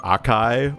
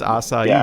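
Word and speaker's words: açaí: for the longest time I thought that those were pronounced Akai or Akai isn't it yeah it's asai right yeah asai these nuts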